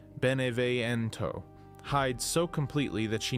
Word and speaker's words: Beneviento: But where Steve performs confidence, Donna Beneviento, pronounced Beneviento, hides so completely that she needs a doll to speak for her.